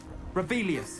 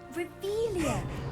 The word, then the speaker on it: Revelio: Revelius. Saying it wrong. Ugh, Revelia. Much better.